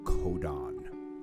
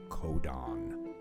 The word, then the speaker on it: codon: The word is codon. Everybody say codon. Good. What does that sound like? It sounds like the word code.